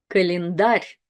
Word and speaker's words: Календарь: Календарь, календарь, календарь. So here we have the soft sign at the very end. So the sound r changes to the soft r.